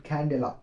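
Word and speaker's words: candela: एंड कैंडेला, कैंडेला। अब pronunciation में जानिए, कैन प्लस डेला, इसका है तो आपसे क्या लिखेंगे, सीडी।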